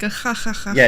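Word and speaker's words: jaja: yeah, it's laughing ha ha ha ha, but it's spelled ja ja ja ja ja ja. Like imagine laughing like that and ja ja ja ja ja ja, but it's actually ha ha.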